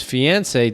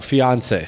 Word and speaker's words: fiancé: is Garcia is a student at United High School, the former school of Correa's fiancée, Daniela Rodriguez. Fiancé. So that's how you say it. Fiance. Sorry, fiance. My bad.